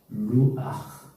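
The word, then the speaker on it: רוח: 루아흐. 기억나십니까? 예, 루아흐. 따라서 합시다. 루아흐. 예, 히읗 발음 약간 가래가 끓듯이.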